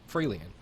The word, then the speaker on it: Fraelian: Is it Fraelian? Yes, you are.